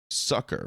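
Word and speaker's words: succor: better that ether might be manipulated to bring sucker or pain. I actually don't know how to pronounce that word. How do you pronounce that? s u c o r. We're gonna look it up. Sucker, right?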